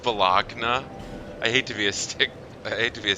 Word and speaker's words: Bologna: it's pronounced Bologna. I hate to be a stickler for that, but it's pronounced Bologna.